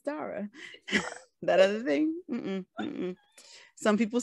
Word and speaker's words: Dara: as they want to because they're saying their name wrong. It's Dara. It's not my fault y'all say your name wrong, but I'm just letting you know. It's Dara.